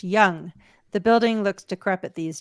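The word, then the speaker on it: Yonge: it's ridiculous Sonia B the Toronto street is pronounced young the building looks decrepit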